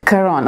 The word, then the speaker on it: Karon: So, Karon, did I pronounce that correctly? Yeah, just like the book. Karon, okay.